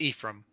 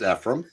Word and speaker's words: Ephraim: you to pronounce it it's Ephraim it's a long e Howard and Ephraim i' I've heard it pronounced efim is it efim okay